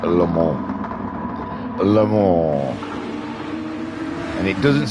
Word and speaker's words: Le Mans: Apparently Le Mans is wrong. You probably say Le Mans. You're from that way. You think Le Mans is probably fine to call it, but apparently no, it's pronounced Le Mans.